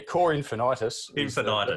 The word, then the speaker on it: Cor Infinitus: that's all right yeah core infinitus thank you the proper latin pronunciation but yeah i reckon